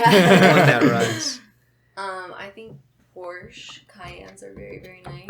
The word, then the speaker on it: Porsche: gonna say people that have But- Porsches or Porsches say, "Oh yeah, it's a the Porsche." way the company's pronounced in German is Porsche.